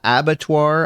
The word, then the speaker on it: abattoir: Uh abattoir, I believe is what it is what it's called. Um I looked up the pronunciation, so I think it's a French term for slaughterhouse.